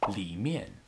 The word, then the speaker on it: 里: A little note here, when using 上面 for on and 里面 for in, it's more common just to hear native speakers say 上 and 里, both pronounced with a neutral tone, like in 我的手机在桌子上, 我的手机在桌子上,